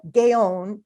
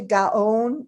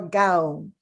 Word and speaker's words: Gaon: wrong on both counts the pronunciation is closer to gaon or gown thanks to david goldberg